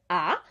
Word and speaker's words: a: thinking in english but it's actually pronounced ah and this is important